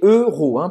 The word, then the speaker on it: euro: Você não vai falar euro, tá? Você vai fazer a boca do O e falar E.